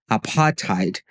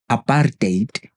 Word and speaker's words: apartheid: The hidden problem is that when you pronounce it as apartheite instead of aparate, it may seem insignificant, but it loses its meaning entirely. There's a hard R sound in the actual pronunciation.